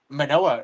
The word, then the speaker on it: Manoah: Now, and similarly, right, in Judges 13:17 to uh 23, Manoah, right, or Manawa, however you want to pronounce it, um what she does is she asks the angel of the Lord for his name.